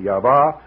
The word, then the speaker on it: Yahweh: some people pronounce it Yahweh some people pronounce it yah wah some people actually make three syllables out of it other people pronounced